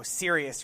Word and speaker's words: Sirius: Heart Radio tuning radio sirius radio spelled like the word serious serious oh yeah Oh or